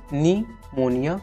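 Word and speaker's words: pneumonia: इसमें जो है पी साइलेंट है और इसको जो है निमोनिया पढ़ा जाता है, ठीक, वर्ल्ड निमोनिया डे।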